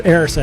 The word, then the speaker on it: Erised: It's the pronunciation that throw me off. It's Erised. How's So it spelled? Up next. It's spelled like a rise, isn't it?